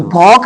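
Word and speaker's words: folk: कि लोकगीत संग यानी कि लोक गीत तो फॉक मींस लोक बाम इसे बाम बोलेंगे इसे पाम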